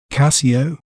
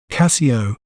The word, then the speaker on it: Casio: We may pronounce it as Casio, Casio, Ca, C, O. Casio.